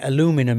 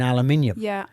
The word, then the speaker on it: aluminium: scone scone that's totally it's like saying aluminum instead of saying aluminium we're in danger of